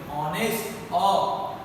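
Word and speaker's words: honest: ऑनेस्ट, ऑनेस्ट, आर and honour, honour बोलते हम लोग, ऑनर नहीं बोलते।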